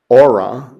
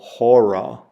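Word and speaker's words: ὥρα: for our and again it has a rough breathing Mark over it which adds an H sound to it so you wouldn't pronounce this AA you'd go hor hor hour there's three kind of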